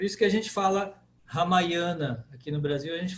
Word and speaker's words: Ramayana: Ramayana. Ramayana. Por quê? Porque o Ma é a primeira longa, de trás para frente.